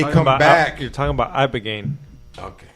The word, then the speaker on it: ibogaine: Ibogaine. Abigaine? Yeah, ibogaine. Ibogaine. Yeah, Vice and everybody has done documentaries. Spell it. I can't spell it. It kind of sounds like a name, like Abigail.